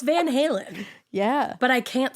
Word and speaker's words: Van Halen: baby dog and they named the baby dog Helen Helen Halen Van Halen oh my God I